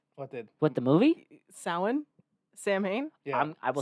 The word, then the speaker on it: Samhain: We went to go see Sam Hain.